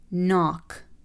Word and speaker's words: knock: Knock, knock.